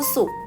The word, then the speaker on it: สุก: เห็น ไหม คะ ลูก วัน ศุกร์ ข้าว สุก ความ สุข สุข สุข สุข อ่าน ออก เสียง เหมือน กัน ทั้ง 3 ตัว เลย นะ คะ แต่